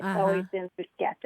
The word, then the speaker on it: bruschetta: In Italy, it's bruschetta. It's Uh-huh. always been bruschetta. Right. And it comes from the CH, Mhm.